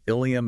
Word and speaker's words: ilium: The sources highlight the difference between ilium and ileum. Ilium, spelled with an I, is the large flared bone of the pelvis. Ileum, spelled with an E, is the final section of the small intestine. And spoken out loud during a fast-paced shift handoff or in a noisy emergency room, they sound absolutely identical.